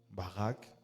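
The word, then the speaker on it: barak: Il y a baraque. Baraque, c'est pas les baraques qu'on construit, c'est B A R A K.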